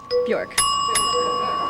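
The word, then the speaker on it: Björk: Bjork. It rhymes with dork.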